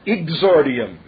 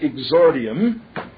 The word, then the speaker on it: exordium: e ex o r di i u m pronounced exordium i g z r di IU n that would be a phonetic rendering of it e ex o r di IU M pronounced exordium that's the term from classic rhetoric that is